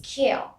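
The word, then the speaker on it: queue: word is q q-u-a-u-e it's q here the other ua is not pronounced we only produce pronounce this word q q moving on to choir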